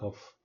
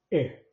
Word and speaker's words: Ö: The third one is Ö, not O, Ö.